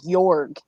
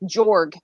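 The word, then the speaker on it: Jörg: a German boyfriend named jorg it's great six foot J it's like jorg j-o-r-g but it's pronounced morgue with a y EP yeah yes and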